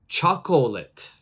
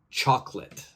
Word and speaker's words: chocolate: so they will say chocolate but in English this second o is silent so my pronunciation would be chocolate I don't pronounce that